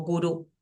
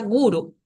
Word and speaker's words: guru: última sílaba Por ende quizás estamos acostumbrados a esta palabra que está acá como ejemplo gurú que no se pronuncia en sánscrito como gurú se pronuncia guru si si estamos hablando